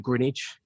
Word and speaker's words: Greenwich: interested in geography is kind of next to Greenwich uh or Greenwich I suppose that's the but